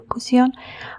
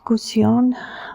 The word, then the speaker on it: Gusion: Goetion, um it has this ending of ion, which is very repetitive in French uh language, no? Goetion. And the way it's pronounced, it sounds very French.